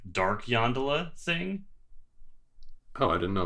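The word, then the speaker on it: Yondalla: Yeah, do you know, or Yondala, right? Yeah, that's how I've been. I'm not sure what which syllable gets the emphasis, but yeah. I was saying Yolanda. No, I miss it. Yeah, I get. We're in agreement. Yondala.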